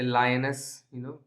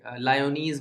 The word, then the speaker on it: Lyonnesse: जैसे लायनस, female lion, वैसा आप काइंड ऑफ प्रोनाउंसिएशन इसका। सो LYON is spelled as pronounced as lion, and एस, सो लायनस। एंड मैं इसलिए स्ट्रेस दे रहा हूँ इसके प्रोनाउंसिएशन में बिकॉज अगर आप इसको गलत तरीके से लायोनीज बोलेंगे, अगर आप फॉर एग्जांपल, सो गलत तरीके से प्रोनाउंस आप करेंगे तो इस पोएम की राइमिंग स्कीम को आप समझ नहीं पाएंगे।